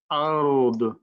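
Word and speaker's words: أرض: দদ সবসময় হেভি, তাহলে আমরা এভাবে পড়বো, আরদ, আরদ, আরদ, ওয়ামা ফিল আরদ।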